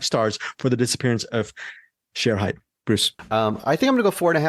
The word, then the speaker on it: Shere Hite: documentary you pronounce it share height sometimes they pronounce it the media people they pronounce it Sher height but the I think as far as the documentary goes the correct pronunciation is share height The Disappearance of share